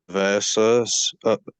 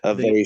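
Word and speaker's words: āveśa: Well, it's Avesha. so the line above it is the A with the line above it is A, and then S with a slash above it is SH.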